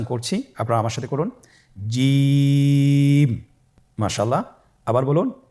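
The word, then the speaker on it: جيم: জিম হরফটি বারিক হরফ, এটা উচ্চারণ করতে হবে তিন আলিফ টেনে। দেখুন আমি কিভাবে উচ্চারণ করছি, আপনারা আমার সাথে করুন জিম। মাশাআল্লাহ, আবার বলুন জিম।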